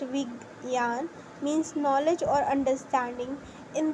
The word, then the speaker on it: Vigyan: Vigyan, pronounced Vigyan, means knowledge or understanding in the context of this text.